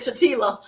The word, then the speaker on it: tortilla: Because I love saying tortilla. So tortilla. Why do we have 2 L's there and we don't want to use them?